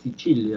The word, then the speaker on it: Sicilia: Esta es la Sicilia. Esto que está acá, se pronuncia así, Sicilia, es un nombre italiano. La C en italiano siempre se pronuncia como che.